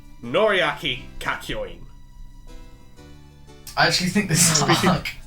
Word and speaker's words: Kakyoin: next up, we have Part 3, Arc 2, Noriaki Kakyoin.